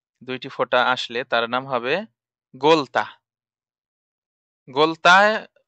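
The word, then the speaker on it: ح: হা উচ্চারণ কেমন হবে, লম্বা হা উচ্চারণে গলায় শোষ করে শব্দ হবে হা, লম্বা হা।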